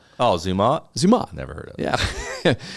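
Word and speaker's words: Zermatt: Swiss Alps ah yeah the town of uh zumot I think is is how you say it oh zumot zumot never heard of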